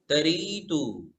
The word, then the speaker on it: तरीतु: को वा को वा तरीतु। तरीतु र दीर्घ है, री तरी में री जो है वो दीर्घ है, तो हम दीर्घ पढ़ेंगे तरीतु।